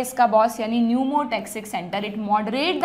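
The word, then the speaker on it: pneumotaxic: P से start होती है स्पेलिंग, न्यूमोटैक्सिक सेंटर, है ना।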